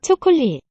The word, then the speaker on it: 초콜릿: So here with that s letter, shiot, will be pronounced as a t, but here, 초콜릿, not really detectable.